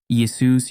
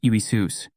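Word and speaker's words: Ἰησοῦς: Pronunciation of Isus in Greek, Iesus Iisus.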